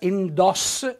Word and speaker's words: indossa: nostro dialetto la lettura far capire che si pronuncia indossa con la o aperta e quindi mettiamo l'accento